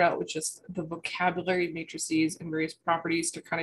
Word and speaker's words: matrices: and the plural is matrices that's how it's pronounced uh long e that's uh the x